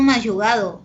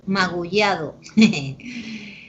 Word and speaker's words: magullado: Tu carro está todo mayugado. No, mayugado no, magullado.